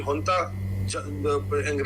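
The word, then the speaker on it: junta: ये मिलिट्री हुंता, लिखने में जनता लिखा जाता है लेकिन उसकी प्रोनाउंसिएशन होती है हंता।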